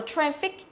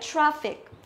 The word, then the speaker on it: traffic: Là các bạn đọc là traffic. Tức là đọc thành âm e đúng không? Nhưng mà nó không phải là traffic đâu, mà là traffic.